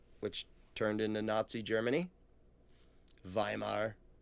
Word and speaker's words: Weimar: turned into Nazi Germany viar for those who are going to complain about the my pronunciation of it read the Constitutions they